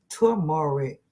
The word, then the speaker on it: turmeric: Yes, turmeric pronounced turmeric. Okay, I was thinking like numeric.